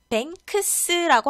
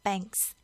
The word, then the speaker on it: banks: banks라고 하지 않아요. banks. 크 발음이 생략이 됩니다.